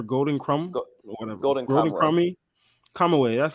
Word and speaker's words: Kamui: Kamui, that's how you say it.